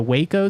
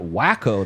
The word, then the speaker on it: Waco: I've been rewatching the Waco series from a couple years back. Dang. It's really good. It's really intense. I've been pronouncing that wacko this whole time. Can you believe it? It was wacko.